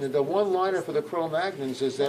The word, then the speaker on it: Cro-Magnon: And the Cro-Magnon population, and the one-liner for the Cro-Magnons is that, or Cro-Magnon is probably the correct pronunciation, but most people say Cro-Magnon, is that they were